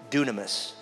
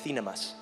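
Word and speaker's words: δύναμις: That word in Greek, power, is the word dunamis. It's also pronounced in a different dialect, thinamas.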